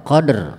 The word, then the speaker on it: Qadr: harus benar kalau baca Jangan qad doang ada yang baca bacanya begini inna anzalnahu fi lailattil Qadr itu hilang hurufnya satu wudunya r-nya ke bawah Qadr bukan Keder bukan jangan Keder lagi ya inna anzalnahu fi